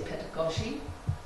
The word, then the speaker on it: pedagogy: Some people say pedagogy, some people say pedagogy, and I say pedagogy, because that phonetically that makes more sense to me.